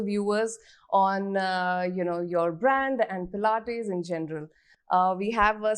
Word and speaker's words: Pilates: Has anyone ever mispronounced the word Pilates in front of you? Always. Yes. Tell us some fun ones. All Plates? the time. It's plates, pilates, so many variations to it.